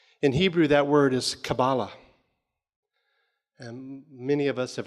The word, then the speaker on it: Kabbalah: the christian kabbalists or they spell it with a cue two different words pronounced the same way kabbalah at the end of